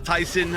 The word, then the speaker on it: Tyson: So yes, this does look like this is gonna be Tyson versus Zombie, which 2 weeks ago I learned it's pronounced Tyson, like the chicken.